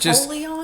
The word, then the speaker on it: Apollyon: In Koine Greek, it would have been Apollyon. Close to a polar bear. Apollyon.